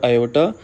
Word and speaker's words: iota: Whatever number that is with iota sign this symbol i or iota we shall call it imaginary part and here i is pronounced as iota and its value is